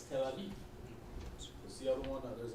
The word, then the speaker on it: Tel Aviv: Your Tel Aviv, it's Tel Abib, all right, or Abyab. That's how you say it in Hebrew. Now it's Tel Aviv.